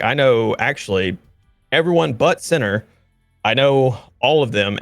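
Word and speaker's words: Siner: Um and then on the opposing team, we have generations with uh I don't know how you pronounce that, center. Yeah, s like s i n e r.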